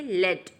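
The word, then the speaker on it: lead: And second one इज़ कॉल्ड a heavy metal, यानी कि लेड, यानी लेड क्या है एक हैवी मेटल, ठीक है। सो फर्स्ट है हमारा लीड और सेकंड है लेड, स्पेलिंग सेम है, प्रोनाउंसिएशन और मीनिंग डिफरेंट, और इन वर्ड्स को हम क्या कहते हैं होमोग्राफ।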